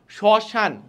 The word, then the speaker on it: শ্মশান: উচ্চারণে পদের প্রথমে অর্থাৎ শব্দে বা পদের প্রথমে ম ফলা থাকলে সে বর্ণের উচ্চারণে কিছুটা ঝোক পড়ে এবং সামান্য নাসিক্য হয় যেমন শ্মশান শ্মশান অরণ ঠিক আছে শ্মশান